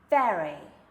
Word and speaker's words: very: leave you a space very and you'll notice here if you if you look at me as I as I pronounce this word but I'm actually biting my bottom lip with my top teeth